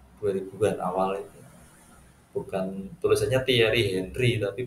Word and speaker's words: Thierry Henry: Bukan tulisannya Thierry Henry tapi bacanya Thierry Henry.